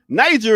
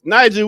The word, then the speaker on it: Niger: Niger is like a word spelled without a G, an extra G. Yeah, you take that G out and you got Niger. So, Niger, we got a high today of 77 degrees.